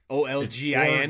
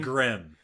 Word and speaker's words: Orgrim: Olgin. Orgrim.